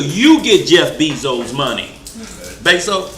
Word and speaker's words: Bezos: And until you get Jeff Bezos' money, Bezos, how you pronounce?